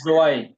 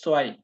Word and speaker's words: zwei: সেন নট জোয়াই, এটা জোয়াই না, এটা হবে সোয়াই।